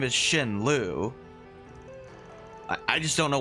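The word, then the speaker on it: Xin: It's it's spelled X I N but it's pronounced Shin.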